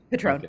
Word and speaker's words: Petrone: And did I get your pronunciation right, Petrone? Yeah, Petrone.